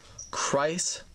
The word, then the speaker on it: Kreis: A lot of people in my comments on the mail have said it's like Christ without the T. I said Kreis Cygnus the first time, which I guess is incorrect.